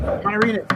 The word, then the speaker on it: Amanirenas: Queen Amanirenas. I said it right. Amanirenas.